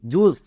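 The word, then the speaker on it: juice: জে ইউ আই সি ই জুস।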